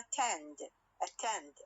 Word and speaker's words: attend: We have for example attend أكتبها A لكن ألفظها إيش؟ شوا.